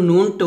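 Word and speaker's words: ن: আর যখন নুনটা উচ্চারণ করবেন অবশ্যই ঠোঁটটা কি হবে, গোল হবে, গোল করতে হবে, নুন।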